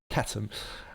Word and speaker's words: Chatham: catum house rules uh some pronounce the Chatham house but I believe it's catam uh the silent h now these rules mean